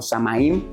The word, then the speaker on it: Samhain: Ellos fueron los primeros que creían en una festividad llamada el Samhain o Samaim, si lo pronunciamos así como en español, ¿verdad? Español rígido, Samaim o Samhain.